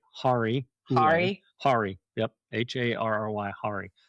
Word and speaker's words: Harry Hole: Hari. Hule. Hari. Yep. Harry. Hari. Hari Hule. Not Harry Hole.